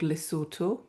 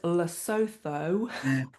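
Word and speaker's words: Lesotho: I was very lucky to be raised in a beautiful very small country in southern Africa called Lysort which is mispronounced as Looo all the time because that's how it's spelled.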